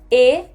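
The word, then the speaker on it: へ: लिखते हम हे हैं, आपको यहाँ पर दिख रहा होगा लिखा हुआ है हे, नाउन हे, पर इसकी जो प्रोनाउंसिएशन है वो ए है, ए।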